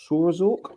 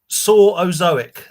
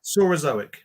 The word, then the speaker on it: Saurozoic: Saurozoic. Saurazork. Yeah, okay. It's almost As like in, I need someone else to say it. Like Mesozoic, I guess. Yeah, Saurozoic.